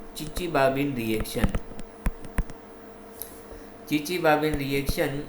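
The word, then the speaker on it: Chichibabin: इसके आगे टी लगता है, लेकिन ये टी जो है वो साइलेंट है, इसीलिए इसको चिचिबाबिन रिएक्शन कहते हैं।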